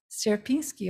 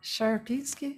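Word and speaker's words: Sierpiński: in poland and it's the land of sierpinski or sherpinski i'm trying to learn the polish pronunciation the first was better so i decided to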